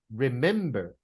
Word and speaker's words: remember: neighbor right neighbor neighbor number two remember remember me right in the middle remember remember number three